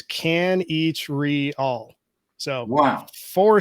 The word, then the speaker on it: Kanichirayil: your last name uh it's a lot easier than it looks it's can each read all so wow four syllables